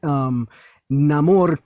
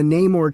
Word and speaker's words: Namor: I would read the Namor comics before I heard his name pronounced. In my head, it was Namor, and then I heard like Stan Lee say Namor. It just depends on where you're from, I guess.